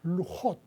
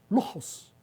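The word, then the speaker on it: לוחות: Son dos tabras, pero en hebreo, fíjese, se dice se dicen lujot, que donde viene la palabra lajas en español. Okay. Porque en ciertas pronunciaciones de ciertas personas los ascanas no dicen lujot, no pronuncian la t, sino que dicen lujos con ese.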